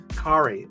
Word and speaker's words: Kari: Kari rhymes with Atari. You know that's how he says how to pronounce his name.